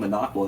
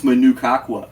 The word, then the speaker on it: Managua: And he says, no, it's Manukakwa. And I say, what the hell are you talking about? I've heard of this place. It's not pronounced that. Flip that. Jacob had it totally wrong. He said it wrong, and then I corrected him. No, you said it in some French way, and I said it in the English way that we colonized it into.